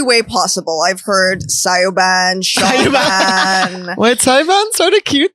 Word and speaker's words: Siobhan: I say, oh, like I'm hanging out with Siobhan, he goes, you mean?